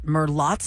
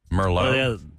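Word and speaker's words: Merlotte's: about from True Blood is it Merlot's bar Mero no cuz not Mero it's not spelled like Mero it's m e r l o t t s or is it like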